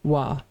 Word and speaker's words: は: I know it's been a while, but remember, this hiragana is ha. But when it's used as a particle, it's going to be pronounced wa.